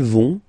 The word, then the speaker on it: vont: Ils vont, elles vont. Okay, remember, final T not pronounced, so you get this ON nasal here. On, vont.